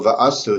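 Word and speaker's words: וְעָשׂוּ: Accordingly, the emphasis here on the first syllable va'asu suggests that it's not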